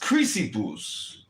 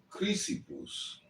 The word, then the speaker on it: Chrysippus: And then later It's pronounced Chrysippus. Chrysippus.